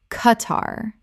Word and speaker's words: Qatar: Lester Lester Word 105 Qatar Common mispronunciation Kuh-tar Correct pronunciation Kuh-tar Two syllables with the Q making a hard K sound, not a KW sound.